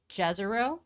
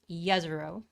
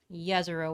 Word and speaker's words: Jezero: it might be pronounced jezero but it's actually pronounced yezuro yazaro with a y sound so the mars 2020 rover is landing in yezero crater here with the